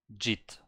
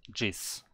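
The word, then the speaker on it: 짓: So for example, this is a syllable here, it's a jit, but this one at the bottom is usually an S, but in this case it's like a T. Jit. It's not jis. It's jit. Jitta.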